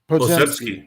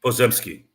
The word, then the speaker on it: Podziemski: Podziemski. Podziemski.